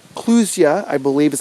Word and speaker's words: clusia: But they're called clusia, I believe is how you pronounce it, C-L-U-S-I-A.